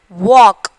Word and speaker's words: walk: And then walk, L. Which L word is silent in that letter?